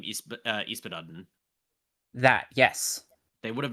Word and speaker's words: Yspaddaden: Yspaddaden. Yspaddaden is the pronunciation.